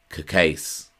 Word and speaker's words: Cacace: The traditional Italian pronunciation of his surname would be Cacace, but I'm reliably informed by those who know him that the surname has been Americanized and is now pronounced Cacace.